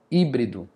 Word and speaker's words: híbrido: Aqui é uma ó, híbrido. A sílaba tônica é a antepenúltima.